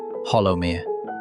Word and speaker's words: Hollowmere: Hollowmere. I am told the name with the local soft second syllable, like hollow, but as though the word itself is a little hesitant.